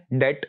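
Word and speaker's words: debt: Next जो है इसमें बी साइलेंट है. डेट, डेट का मतलब होता है कर्जा, तो इसमें बी साइलेंट है, डेट.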